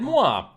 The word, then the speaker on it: moi: Hello, hey, moi, moro turv. Hey, it said moi. That's how it's supposed to be, you know, pronounced.